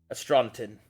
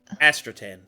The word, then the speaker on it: Astratan: I am no astronotan. I have not the gift of navigation, nor of star sight. He'll nod along. I've Or recently... Astratan. Sorry, I said it wrong.